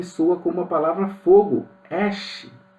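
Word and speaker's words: אֵשׁ: temos uma conexão fonética a palavra mulher se pronuncia Iá a palavra homem se pronuncia is a palavra fogo se pronuncia Ash tudo é muito parecido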